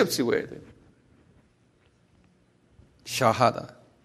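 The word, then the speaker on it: Shahada: SHA 샤, 그 다음에 HA 샤하 그런다고요. 그 다음에 다 샤하다 그래. 이거 우리 다 알아들 필요 있어요. 한번 발음해 보실래요? 샤하다.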